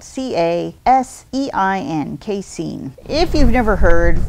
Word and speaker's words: casein: It's spelled C-A-S-E-I-N, Casein.